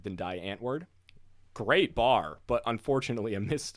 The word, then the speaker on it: Die Antwoord: coming from south africa their name derives from afrikaans which is a sub language of dutch i mean it's a full language of course but it's historically related to dutch so it has the pronunciation similar to german as deontovort where it's like the w being a v and i think even the ending d is a t being deandre um translating